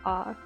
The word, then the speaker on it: Å: After the visitor center, we took a short drive to the small town of Å, and yes, it is pronounced Å.